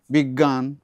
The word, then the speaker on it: বিজ্ঞান: এখানে অজ্ঞ বিজ্ঞ এই যে গ এর উচ্চারণটা আংশিক নাকে হবে এটা পুরো নাকে বিজ্ঞান আমি ছোট ছোট শব্দগুলো